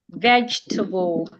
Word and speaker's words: vegetable: So for example, if I have the word vegetable, vegetable, ve I'm stressing the first syllable. The second e is silent.